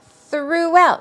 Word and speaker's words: throughout: move on to throughout throughout it's two syllables throughout preposition through well